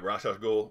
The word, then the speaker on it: Ra's al Ghul: It's rah rah. Only somebody super pretentious would tell you you're saying it wrong.